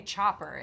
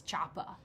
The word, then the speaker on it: Choppa: I think it's you can't you can't say Chopper it's not that's might as well not be a word it's Choppa it completely changed the the pronunciation of the